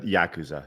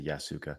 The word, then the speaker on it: Yakuza: John says don't don't the yasuka you uh Yakuza yeah I say yasuka the the Yakuza usually deal with them people and uh this